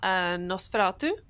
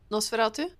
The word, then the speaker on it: Nosferatu: But I saw Nosferatu, and then I was like, all right, I'm going to check the rest of this out.